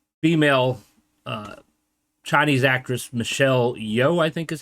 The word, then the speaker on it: Yeoh: And then there's a female uh, Chinese actress, Michelle Yeoh, I think is how you say her name.